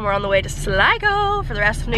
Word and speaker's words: Sligo: that doesn't make sense it's like sligo s-l-i-g-o right let's go that's just like what the pronunciation is loser buys the first